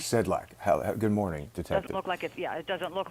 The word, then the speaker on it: Sedlacek: this detective I'm sorry is it sedc how do I pronounce your last name it's Sedlak actually sedlack good morning detective doesn't